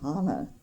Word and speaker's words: Hannah: I looked in the Bible, and the Hannah in the Bible is Hannah. It's spelled Hannah, but it's H-A-N-N-A-H, but it's pronounced Hannah. Oh. And people, most people that have that name pronounce it Hannah. Hannah.